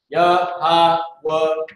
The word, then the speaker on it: Yahweh: So this is Yahweh. That's how you break that down. Most High in Christ. Most High in Christ. So now Malaki, if you can, and he got it right here as well. Yahweh.